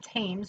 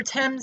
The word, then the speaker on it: Thames: spanned the river thames not tames or thames the river in london if